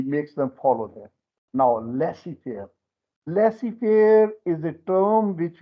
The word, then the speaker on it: laissez-faire: In a laissez-faire system is the system where in an economy, laissez-faire economy is that economy. This is a French word. Is Z is silent. Laissez-faire.